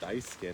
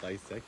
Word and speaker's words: Daisuke: let him know that your name is Daisuke, not Daiseki?